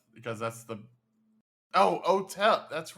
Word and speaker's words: Otep: panta uh open Otep I'm GNA call him because that's the oh Otep that's right that's how you pronounce that uh NY uh I am seeing